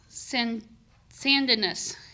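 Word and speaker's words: Sandnes: right now they are in and i haven't pronounced it right yet sin sandiness it's s-a-n-d-n-e-s it's a suburb in the southern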